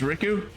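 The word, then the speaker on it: Rikku: Am I right in saying this is Riku? And yes, that is how I insist on pronouncing her name, because if I don't, then I'll confuse her with Riku from the Kingdom Hearts games, and to be fair,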